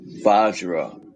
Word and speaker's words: Vajra: Vajra.